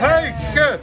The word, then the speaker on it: Huyghe: The real name of the brewery, I'm going to try to pronounce it. Huyghe. Yeah! Huyghe!